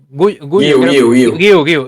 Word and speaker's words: Guiu: pueden confirmar más aún, a ver cómo se pronuncia exactamente, con sus, como Guille, pero con la U al final, así ya me queda más claro entonces.